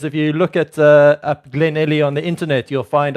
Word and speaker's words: Glenelly: It's Glenelly.